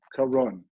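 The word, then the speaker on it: קרון: twice, against the Magef, against the plague, and it's spelled Kuf Reish Vav Nun, Karon.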